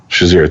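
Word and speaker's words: Shazier: to a hospital because of his is any pronounce his name sazir shazir thank you i nothing's pronounced like it's supposed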